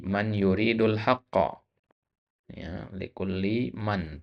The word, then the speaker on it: من: Ya, likulli man. Tadi antum bacanya min. Ya, lihat yuridu itu fiil. Nggak mungkin huruf jar min masuk ke fiil. Ya. Ya. Nah, jadi man di situ.